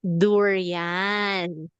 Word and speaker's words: durian: Oh, you mean durian? Yes. Durian. Oh, this is what we we pronounce it as durian.